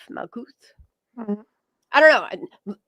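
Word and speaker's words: מלכות: And it's crazy because it's Malkuth, like milk. That's what it reminds me of. Malkuth.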